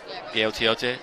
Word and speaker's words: Gaotiote: That's Melosi Gaotiote now in at quarterback. Did I get that right? Did I get that right, Hugo? Gaotiote? Yep, thank you.